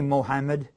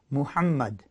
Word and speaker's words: Muhammad: that they Revere the last prophet don't say Muhammed cuz that's just not the way that they say it it's pronounced Muhammad move huh might Muhammad that's what that's how